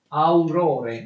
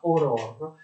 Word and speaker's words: Aurore: Scrive su un giornale che si chiama Aurore, ma si pronuncia Aurore, un famoso articolo che è rimasto famoso a favore di Dreyfus e dell'innocenza di Dreyfus.